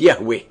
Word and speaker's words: Yahweh: himself as I am which in Hebrew is pronounced Yahweh and the almighty continues